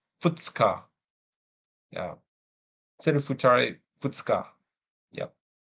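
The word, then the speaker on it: 二日: This is, I want to say, the second or 2 days, but I forget the pronunciation. Futsuka, yeah.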